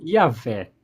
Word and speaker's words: Yahvé: E ele descobriu que os samaritanos se referiam a Jeová como sendo Yahvé.